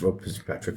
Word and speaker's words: Rob Fitzpatrick: It's Rob Fitzpatrick, isn't it?